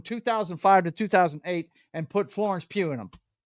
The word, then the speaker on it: Florence Pugh: to 2008, and put Florence Pugh in them. It's not even going to be a James Bond show, bro. Florence who? Florence Pugh. I am not mispronouncing that. Her name is Pugh.